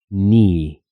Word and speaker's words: knee: Y es que cuando encuentras una palabra que comienza con KN en inglés, como knight, caballero o knee, rodilla, la K se vuelve muda y no se pronuncia en absoluto.